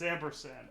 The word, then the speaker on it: ampersand: It's ampersand.